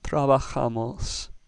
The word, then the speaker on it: trabajamos: then we know that the stress is going to be on the A. Therefore, our word is trabajamos, with the ja syllable getting the emphasis.